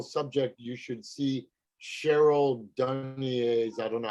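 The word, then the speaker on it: Dunye: if you're interested in that whole subject, you should see Cheryl Dunier's, I don't know how she pronounced her name.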